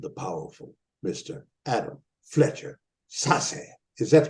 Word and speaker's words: Sasse: Adam Fletcher Sasse. Is that correct pronunciation, Sasse?